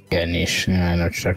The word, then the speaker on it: niche: for something you know ni CH e you probably read it before and not ever heard of pronounce so Aneesh dude that sucks Jack